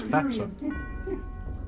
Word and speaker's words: fetor: Oh, it's pronounced fetter.